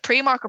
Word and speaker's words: Primark: once and for all is it pre-market Primark and they're gonna go you all the best and hang up because if you pronounce it pre-mark you're Creole as well there you go that sums that up it's called premark Uh if you've had